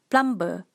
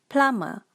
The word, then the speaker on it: plumber: famous mispronoun profession in malaysia we call this plumber plumber but the correct pronunciation is plummer plummer malaysian will pronounce this word as a